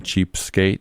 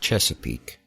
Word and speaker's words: Chesapeake: other places it's a lot easier than saying cheap skate Virginia it it's actually pronounced Chesapeake oh okay uh in the studio we' got